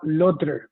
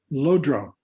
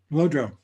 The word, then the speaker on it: Lodro: My name is Lodre, and it means liberation intellect. I'll just correct your pronunciation because this is a very important word. Lodro. Lodra. Lodro.